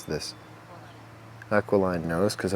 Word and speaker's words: aquiline: how to pronounce this aqualine nose cuz I've always had aquine that's not right aqualine it should have a curve to